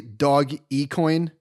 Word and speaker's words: Dogecoin: Doge, by the way, it's obviously dog e-coin, right? It's an e-coin. It's dog e-coin.